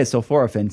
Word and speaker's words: sulforaphane: learned today is no the academic science guys say sulforaphin so I'm going to start saying it the correct way from now on I